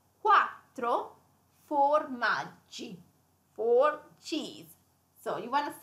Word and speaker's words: quattro formaggi: That is pronounced quattro formaggi.